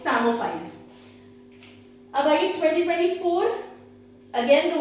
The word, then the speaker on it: psammophile: Then the word for the year 2023 is Samophile. Okay. PSAMMOPHILE. The word P in this particular word is silent.